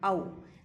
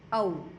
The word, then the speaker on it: औ: देखो बेटा, आप इसको बोलोगे औ, क्योंकि 2 मात्रा लगी हुई है, ठीक है। इसका उच्चारण औ होगा, ना कि ओ औ। जो बड़ा ओ होगा उसको आप औ बोलोगे।